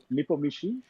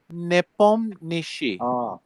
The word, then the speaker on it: Nepomniachtchi: Nepomniachtchi? Uh, Okay, so I think in the transliteration to English, okay, they put in the CTH or CHT, whatever. They put that too often and it confuses people.